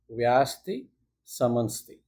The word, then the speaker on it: Vyashtisamanstih: Okay, and again a long name is pronounced as vasti samunsti.